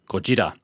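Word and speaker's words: ゴジラ: a play on words from the original japanese pronunciation gojira where goji can also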